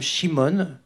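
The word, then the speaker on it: Szymon: Le narrateur, pour clarifier les choses, se prénomme Shimon, ça s'écrit S-Z-Y bien sûr, et il veut comprendre pourquoi son père, Joachim, s'est dénoncé après avoir commis un crime en Pologne.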